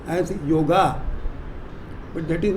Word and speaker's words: yoga: Please remember that many people pronounce the word yoga as yoga, but that is not a correct pronunciation.